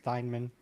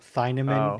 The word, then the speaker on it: Thiemann: It's Thiemann. Okay, then. I think on the episode you thought the E was pronounced as well. Thiemann is how you thought it was pronounced.